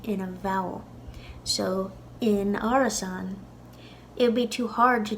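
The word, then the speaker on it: árasán: in theory in Ulster this word could be pronounced Arison now the second a with a father at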